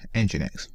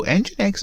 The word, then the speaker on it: nginx: this wrong so nginx in genetics just sometimes so I always get this name wrong so engine X is simply a web server reverse proxy a load